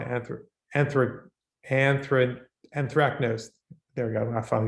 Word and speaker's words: anthracnose: a uh i'm not sure i'm going to pronounce there at the school of fungus without produces a disease called anthro anthropanthrin anthracnose there we go i thought he's gonna spit